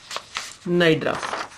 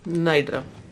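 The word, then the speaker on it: Cnidaria: Our next phylum is Nidra. Phylum Nidra. CNI. Here C is silent.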